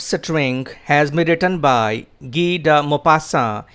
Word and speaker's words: Guy de Maupassant: has been written by ghida mopassa it's a french name so i would like to read it out again for your facilitation for clear pronunciation gee da mo passa he is 19th century